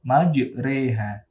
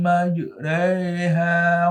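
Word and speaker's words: مجراها: Majreha. Nah, kalimat itu ya. Cara bacanya mencondongkan alif kepada kasroh. Kita contohkan. Wa qalu kabu fiha bismillahi majreha wa mursaha.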